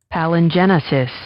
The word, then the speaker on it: palingenesis: Palin-genius is our word of the day, pal-an-genius? Let's make sure I'm pronouncing that correct. And let's get a pronouncer. Palingenesis. Palingenesis. Palingenesis. Yeah. I was going to say it looks like Genesis to me.